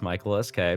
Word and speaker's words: Michael_SK: First off, yes, no underscore that is pronounced. It's just Michael SK.